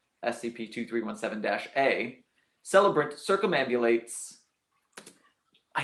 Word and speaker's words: circumambulate: 1 2 3 1 7 - a celebrant circumambulate I said it right but I didn't think